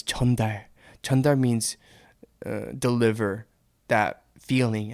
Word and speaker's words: 전달: 정달? No, you guys said it wrong. It's not 정달, it's 전달. I just said that.